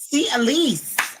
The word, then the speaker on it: Elyse: Miss CLC, and let me make sure I'm pronouncing your name correctly. Elyse. Elyse.